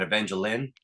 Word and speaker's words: Evangeline: Um, and he ran a Kickstarter a couple months ago for an Evangeline, as Liefeld pronounces it, omnibus, which collects the first couple of miniseries, and that's coming together good.